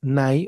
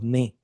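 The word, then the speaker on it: ναί: si de afirmación, pero en el griego es es nai o ne. N a i ne.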